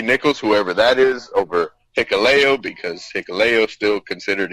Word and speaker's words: Hikuleo: I have Hikuleo. See, I said it right that time. Of course. He had to spell it phonetically.